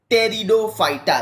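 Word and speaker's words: Pteridophyta: your plant kingdom teaser टेरिडोफाइटा देखो यहां पर प्रति जो है वह साइलेंट है बच्चों तो इसको हम लोग बोलेंगे टेरिडोफाइटा टेरिडोफाइटा मींस द का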